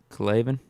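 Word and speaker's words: K'Lavon: How do you say his first name? It's like K. Levon, right? Clavon? Yeah. Clavon. Like Clavon Chason.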